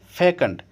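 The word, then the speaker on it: fecund: अगला वर्ड है फैकंड। फैकंड बोलो या फीकंड, दोनों ही इसको इसका प्रोनाउंसिएशन दोनों ही है, फीकंड भी है और फैकंड भी है।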